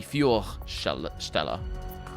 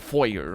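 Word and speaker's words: Feuerstelle: most uh out of the pronunciation of fior because it should be fuel stella it's it's got the things um and not foyer or anything like that because i don't know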